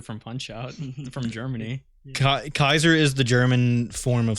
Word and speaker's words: Caesar: we all you know i want to talk about the pronunciation of caesar kaiser yeah i just love saying kaiser i do too i i uh i call little caesar's little kaisers yeah it's just so fun to say but is is kaiser not inherently just like referring to like that's the german pronunciation right uh maybe yeah i